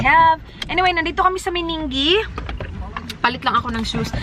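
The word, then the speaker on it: Meningie: Dan has been driving for almost 2 hours and we are in Meningi. Did I pronounce it right?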